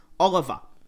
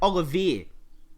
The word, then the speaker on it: Olivier: this guy's name as his last name as oliver it's actually pronounced olivier didn't even know that until i heard a